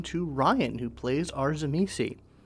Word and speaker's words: Tzimisce: And last but not least, we come to Ryan, who plays our Tzimisce. And yes, that is how I pronounce Tzimisce. That's just how it's done on this podcast.